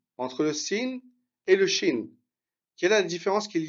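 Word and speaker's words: شين: Ensuite, shin, comme le pays. D'accord? Shin. Ça se prononce de la même manière.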